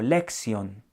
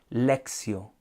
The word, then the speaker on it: lectio: Pero les decía que el término lectio, algunos lo pronuncian como lección, pero resulta que es lectio, no lección, sino lectio, que lectio va a traducir lectura.